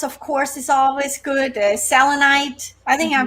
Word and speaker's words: Selenite: Selenite, I think I pronounced it right.